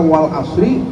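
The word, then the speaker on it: العصر: Tetapi dengan mustahaknya artinya seperti ini, seperti kata wal asri ini dalam kategori mustahak. Hak dan mustahaknya harus dipenuhi ya sehingga dibacanya dengan ra itu harus disukun dan ro itu harus ditabkhim. Wal asr.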